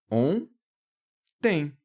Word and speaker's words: ontem: Esse O ele tem um som nasal e esse N ele não aparece como N, como o N de navio. O que acontece aqui é que o O, essas duas letras fazem apenas esse O nasal.